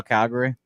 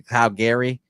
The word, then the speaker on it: Calgary: And Jimmy, yours is under 24.5, Montreal, Calgary. Yes, crucial to get the hook there. And I pronounced it incorrectly. Calgary.